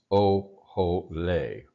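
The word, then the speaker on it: אָהֳלֵי: don't encounter very much, but this is the Kamatz Katan, this is the O vowel, and this is also the O vowel. So it's O-ho-le, O-ho-le, which is, of course, Ohel, meaning tent.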